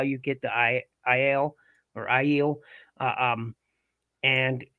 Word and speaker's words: Aiel: Some call them Ale, but it's Aiel is how you say their name, yeah, and they're my favorite.